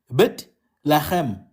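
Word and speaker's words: בית לחם: So Bethlehem is two words, Bet Lachem.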